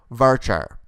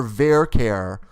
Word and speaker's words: varchar: now let's talk about varchar' or ver care depending on your dialect I say varchar' but some people say ver care that's fine rhymes with Care Bear right so here what